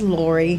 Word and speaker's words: Laurey: It's Laurey. Laurey, okay.